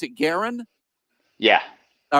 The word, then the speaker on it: Garron: Now you pronounce it Garron?